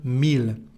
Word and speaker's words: mille: But we have some exceptions like the word ville, town, city, and the number thousand, mille.